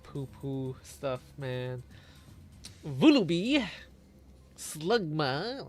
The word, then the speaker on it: Slugma: Vulub Slugma. Oh man, it rhymes with Smegma.